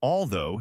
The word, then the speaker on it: although: Both though and although share the same vowel sound. It's the long o sound, like in go or snow. The gch is completely silent here.